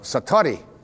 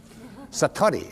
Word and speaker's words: satori: it's called excuse my japanese but it's called satori i'd love to say that satori s-a-t-o-r-i and it means instant awakening the idea